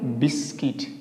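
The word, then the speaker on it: biscuit: इसको बोलेंगे यहाँ पे इसको साइलेंट करना आपको, तो चर्च। क्या बोलेंगे इसको, चर्च। यहाँ क्या बोलेंगे, बिस्किट।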